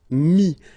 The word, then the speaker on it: mis: And then mettre, to put, so e-t-t-r-e, will give you this is, mi. Same thing here, final s is not pronounced, mi, okay.